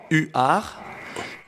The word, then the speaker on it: Huards: yes you do have six letters you just pronounce three u a r u r u r r u r but you write